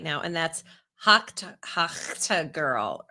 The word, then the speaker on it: Tuah: No, but I'm going to tell you who that is absolutely backfiring for right now, and that's Hawk Tuah girl.